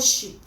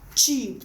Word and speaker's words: cheap: want to call this we say sheep and it's not sheep it is what cheap thank you this is what that's because we are pronouncing the CH as s h okay we are